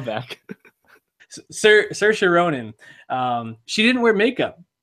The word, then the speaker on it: Saoirse: I'm not gonna say her name right. Saoirse. Saoirse She did this in her SNL monologue. It's like inertia. Saoirse. Very easy.